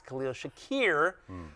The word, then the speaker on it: Khalil Shakir: his most targeted player particularly with your man Khalil Shakir dealing with a little Yes, that is the way that is the correct pronunciation. Yes, Khalil Shakir.